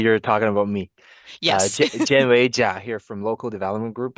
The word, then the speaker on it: Jianwei Jia: Jen Jia here from Local Development Group out of Moncton.